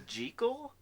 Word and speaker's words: Jekyll: Lately, You know even that though the this proper is pronunciation 2010. is Jekyll?